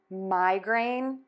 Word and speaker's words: migraine: grain grain grain And let's put that together: migraine migraine migraine So we have: migrant migrant migrant